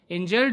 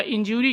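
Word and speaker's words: injury: कहते हैं, इंज्यूर या इंजूरी कहते हैं, लेकिन इंजूरी नहीं होता है बल्कि इंजरी होता है। यू नहीं होगा, ऑ होगा, तो इसीलिए इंज्योर्ड नहीं होगा बल्कि इंजर्ड होगा, इंजर्ड।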